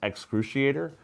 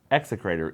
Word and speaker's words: Execrator: Someone, Kogrin, is complaining that we cannot pronounce excruciator. That's because it's not that word. It's execrator. E-X-E, crater. Execrator. It's not excruciator.